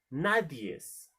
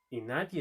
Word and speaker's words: nadie: corregido en algún momento cuando dicen las palabras así no nadies nadie es no se pronuncia así se dice nadie eso es como table